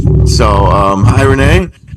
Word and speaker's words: Renee: So, um hi Renee.